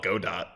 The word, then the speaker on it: Godot: sounds better um yeah the developers said it's it's go dot but uh sucks for them because i haven't heard somebody call it godot like since i've been